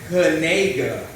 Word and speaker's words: Knigga: But he went on record though, he did go on record and say that it's actually pronounced Knigga.